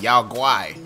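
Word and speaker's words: Yaoguai: That's how you say it, Yao Guai.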